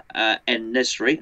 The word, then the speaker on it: En-Nesyri: particular player, which is Yosif En-Nesyri, I think, as you say it like that.